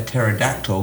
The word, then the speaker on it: pterodactyl: Why can't you hear a pterodactyl go to the bathroom? why? Because the P is silent.